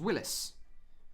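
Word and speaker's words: Wylis: Before he was Hodor, his name was Willis.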